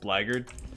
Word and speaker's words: blackguard: So like, I know how blackguard is pronounced. I know it's pronounced blackguard, but by golly, I'm not gonna say blackguard in or the blackguard class.